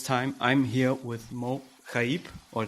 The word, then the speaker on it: Chaieb: This time I'm here with Mo Kib or Chib. How do you pronounce it? Chib. Yes. Chib.